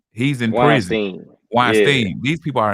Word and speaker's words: Weinstein: Harvey Weinstein, how you say his name? He's in prison. Weinstein.